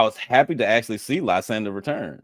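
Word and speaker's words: Lysandre: Lysander. Okay. Yeah, it took me a minute. I loved it. I think it makes all of the sense in the world. I was happy to actually see Lysander return.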